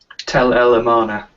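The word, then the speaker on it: Tell el-Amarna: and I don't want to mess up the pronunciation there, Paul. The Egyptian city of what? Tel El Amarna. Tel Al Amarna.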